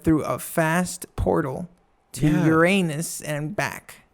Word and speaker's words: Uranus: I feel like I went through a fast portal to Uranus and back. It's pronounced Uranus.